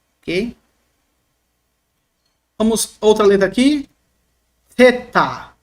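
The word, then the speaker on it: θήτα: escreve assim em português teta equivale no português th a trans interação como na palavra think a palavra thing Ok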